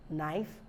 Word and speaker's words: knife: n so for rule K is not pronounced when it comes before n at the beginning of a word knife knee no knock knowledge